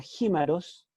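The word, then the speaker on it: χίμαρος: Y luego aparece la palabra jímaros, yo lo tengo ahí entre paréntesis, lo tengo escrito como se escribe en castellano, para que ustedes puedan pronunciarlo.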